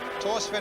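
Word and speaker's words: Thorstvedt: Torsvin in goal then, 51 caps for Norway. You don't pronounce the H in his name, incidentally.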